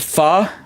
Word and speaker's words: pho: I think it's pronounced like the Vietnamese food fu. Like, so it's it's spelled pho. And I love fa, but it's pronounced fa.